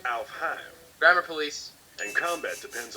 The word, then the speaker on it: Alfheim: Alfheim online? Actually, it's pronounced Alfheim.